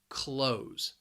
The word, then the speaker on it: clothes: because of that spelling it's just one syllable clothes clothes everybody is wearing clothes